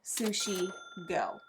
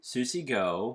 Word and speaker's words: Sushi Go: I said it right say it again Susie go don't you're saying that wrong on purpose what you're saying Susie yeah Susie go Sushi stop it Sushi go is a